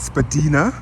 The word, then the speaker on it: Spadina: So it's, and I saw this thing on Instagram about the pronunciation of Spadina, which apparently is Spadina, but who will ever say that?